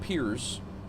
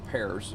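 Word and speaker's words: Pierre: sporty when we hit peers or pears as it's spelled um we're only going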